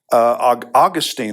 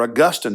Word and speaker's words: Augustine: And some of the great leaders of the church, some of the great theologians and writers, such as Augustine or Augustine, depending on how you want to pronounce his name, Cyprian and Tertullian, they were Africans.